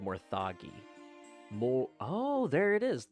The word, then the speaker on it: Morthagi: the luck returned quickly see those are called morthagi Mo oh there it is there's the pronunciation Mori oh it's actually pronounced morthagi ha all right I was right this time